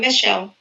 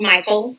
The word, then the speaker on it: Micheal: mistake happens quite often i get called michael a lot because my name is impact spelled m-i-c-h e-a-l which it's lovely right